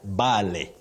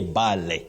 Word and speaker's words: barley: We know the plant and the grains, but many people innocently mispronounce it as barley. People say barley, which is not the pronunciation. You say barley. Oh, barley, really? That's a surprise. Barley. It's barley. Just like in the word valley, not valley.